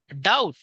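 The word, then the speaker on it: doubt: डी ओ यू बी टी डाउट शंका बघा डाउट डाउट हा शब्द बऱ्याच मुलांचा चुकतो स्पेलिंग आहे डी ओ यू बी टी डाउट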